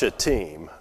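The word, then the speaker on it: Shittim: go wrong when you say it okay but pronounced chatim okay not the way we would say it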